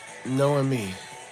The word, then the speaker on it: Noomi: and Sailor Moon Mas to say my name right is noomi oh noomi by the way it's